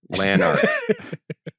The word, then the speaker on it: Lanark: Yeah, and the second L is silent. Lanark. But it's not like a Spanish. It's not like a Yanark.